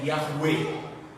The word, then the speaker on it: Yahweh: E a pronúncia é Yahweh.